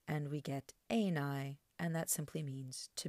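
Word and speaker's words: εἶναι: It's got fixed accent on the second to last syllable there, and we get ἐναι, and that simply means to be.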